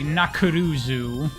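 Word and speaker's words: ナックルズ: All the characters, when they say Knuckles' name, Knuckles is a very difficult thing to pronounce in Japanese. It's a very, clunky word. Characters say Nakuruzu.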